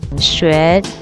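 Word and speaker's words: 学: in Chinese the word learn is pronounced sh meaning to learn something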